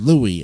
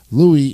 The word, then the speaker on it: Louis: somebody called my name Louis is the French pronunciation of Lewis and is commonly used in Louisiana Armstrong was performing at